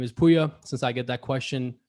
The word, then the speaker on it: Pouya: my background in my bio my name is puya since i get that question asked fairly often uh just so people know that's how it's pronounced as puya and um i got into sales and into